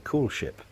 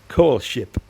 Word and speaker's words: Koelschip: called a cool ship now you can say cool ship c double o l s h i p if you want or you can spell it properly which is k o e l s c h i p core ship basically it means a